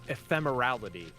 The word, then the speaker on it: ephemerality: let me see if I can get a pronunciation oh it's ephemerality the quality or state of being Epal uh